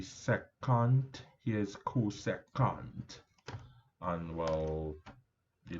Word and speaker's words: secant: This is the shortened pronunciation. It's actually secant.